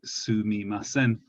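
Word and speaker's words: すみません: the word excuse me you normally say sumimasen depending on regions some people shorten this to suimasen which also means i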